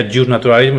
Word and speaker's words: iusnaturalismo: es común es iusnaturalismo se pronuncia iusnaturalismo y se escribe ius y un naturalismo que quiere decir en